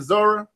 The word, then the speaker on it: Zora: uh what is it Zoro is that how you say it Zora zor yeah zor area that music come on